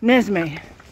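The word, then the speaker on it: Neszmély: So just as in Kodai, the L-Y, the L-Y, that is a Y. There you go, learned something new. Nezmely, they're waiting for me.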